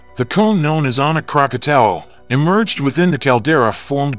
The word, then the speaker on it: Krakatau: ANAK KRAKATAU stands as one of the most renowned volcanoes globally, yet its name is often mispronounced. Many mistakenly refer to it as Krakatoa, when its official name is KRAKATAU.